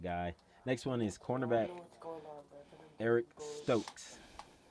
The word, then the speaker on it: Eric Stokes: Next one is cornerback Eric Stokes. No, DJ, say it right. As Ant called him, Eric Strokes.